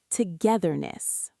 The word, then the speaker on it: Togetherness: You need to stick your tongue out slightly between your teeth for that "th" sound Let's try it one more time: Togetherness Practice makes perfect!